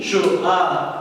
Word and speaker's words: chaud: Le D ne se prononce pas. J'ai chaud.